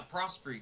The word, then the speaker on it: Prosperie: it prosy prosy yeah prosy kind of just phonetically uh I feel like how it's spelled I feel like uh